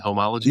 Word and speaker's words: Homology: the Homology podcast? Am I saying that right? You Homology?